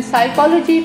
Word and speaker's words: psychology: In psychology, P is silent.